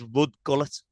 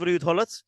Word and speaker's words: Ruud Gullit: Barry was Paul Gascoigne, and Neil said he was Rudd Gullet. So obviously, Mr Van Der Groot corrected him on the pronunciation of Ruud Gullit.